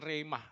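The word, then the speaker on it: rhema: Sebenarnya bacanya remah gitu ya. Sekene wong Jawa remah. Remah. Wangel lat Jawa ya, remah.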